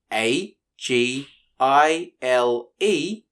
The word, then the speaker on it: agile: l e for the gile sound keep in mind that the g here is making a soft g sound a g i l e spells agile the next